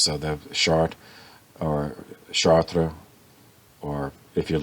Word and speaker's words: Chartres: It's C-H-A-R-T-R-E-S. So, the French, they don't pronounce the suffix, so they have Chartres or Chartres, or if you're from New Orleans, Charters, Charter Street, It's, if